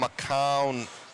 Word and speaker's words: McCown: Adam McCown, his on says it's pronounced, it rhymes with noun.